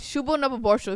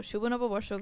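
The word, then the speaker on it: শুভ নববর্ষ: And it's Shubho Nababorsho if you guys don't know how to say it in Bangla. So Shubho Nababorsho, guys.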